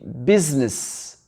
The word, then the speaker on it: business: Ici, on dit business. Le I, il n'est pas prononcé. Business. Et le U, c'est un petit I ici. Business. Donc, le I, on ne le prononce pas.